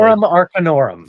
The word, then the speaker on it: Grimorum Arcanorum: One of 3 items made it into the game, and this is the Grimorum Arcanorum. I'm pronouncing it very slowly. Grimorum Arcanorum.